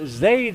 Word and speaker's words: Zaid: Number 28, I've been pronouncing it Zaid Oliver. She says it's Zaid Oliver, rhymes with maid.